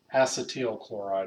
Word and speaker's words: acetyl chloride: So the pronunciation of this is, as a chemist, it's acetyl chloride. Acetyl chloride, sure, acceptable, but acetyl chloride is what a chemist would say.